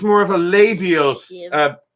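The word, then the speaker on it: sibh: It says Conas Ada Sib. That's not how you pronounce it. It might be. You wouldn't know that, would ya? Well, actually, I do. I can. It's Conas Ata Shiv.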